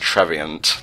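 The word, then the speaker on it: Trevenant: Second of all, I believe it's pronounced Treviant, like, you know, Covenant.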